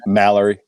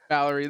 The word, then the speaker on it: Mallory: Mallerie. Mallerie.